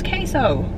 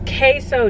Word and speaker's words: queso: like it's understandable though because like look how it's spelled but at the same time girl it's queso it is queso dip like let me see if I can